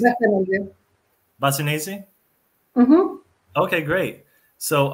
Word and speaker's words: Bassanese: Is, is it Bassanese or Bassanisi, or how is that pronounced? Bassanese.